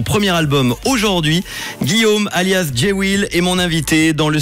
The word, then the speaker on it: GWILL: Alors J-Will, mon nom de scène s'écrit J-W-I-2-L, ouais. Et le G est pour Guillaume. Et Will, c'est parce que